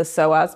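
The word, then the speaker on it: psoas: and specifically you have a muscle called the soas muscle muscle it's spelled PS OAS yeah and it connects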